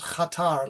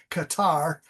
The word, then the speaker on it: Qatar: Um, the plane went direct from Tokyo to Qatar, which the real pronunciation is Qatar, like a Q8 Qatar. Uh, Americans call it, which makes no sense. It's Qatar.